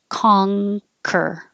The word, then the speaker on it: conquer: nurture nature versus nurture this is a good example of it looks like an in a regular in you would make in the front of your mouth but it's not it's a an ng kong so the back of your tongue goes up high like for ring conquer conquer this is massage